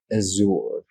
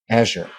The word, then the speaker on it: Azure: Amazon's Alexa Mercedes-Benz will use chat GPT via azour yeah Microsoft Azure right Azure Azure I know as as a German you always pronounce it as at yeah and I yeah